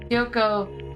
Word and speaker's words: Kyoko: Think like Kyoto, but with a K. Okay. Kyoko latched onto my arm without hesitation.